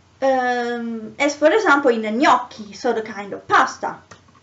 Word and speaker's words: gnocchi: found is g plus n um it is pronounced near near as for example in the gnocchi so the kind of pasta the um over